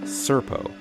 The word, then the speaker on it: Serpo: Knight their ation the Ean home world best pronounced by humans as serpo the third planet orbiting of binary star systems